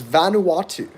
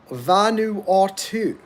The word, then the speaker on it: Vanuatu: to talk about is Vanuatu Vanuatu it's four syllables it's an island nation